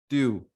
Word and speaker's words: tu: pronoun will use is tu and you can pronounce it like few remove f and say tu put t in place of f and say tube good so next we